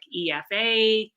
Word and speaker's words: Aoife: to pronounce it but i say to people to read my name backwards like efa and that will kind of help them to to know how to pronounce it and it's given that